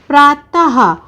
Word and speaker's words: प्रातः: जैसे प्रातः, और उच्चारण होता है हा का, क्योंकि देखिए आहा बोलते समय हमने हा का उच्चारण किया ना, तो प्रा और ता पीछे आहा की मात्रा, तो हमारा शब्द बना प्रातः।